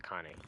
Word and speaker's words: Connie: Coney. It might be pronounced Coney. Oh wait, the tutorials pronounce it Connie, if I'm not mistaken.